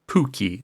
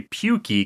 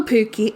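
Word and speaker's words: pukki: yeah okay you gotta you gotta be careful you can't say pukey because then that's like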